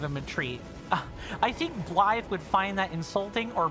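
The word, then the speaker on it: Blaidd: His name is Bllythe. Uh, spelled with Gaelic. Uh, spelled with Gaelic letters. Uh, B L A I D. D in Gaelic is usually pronounced as th.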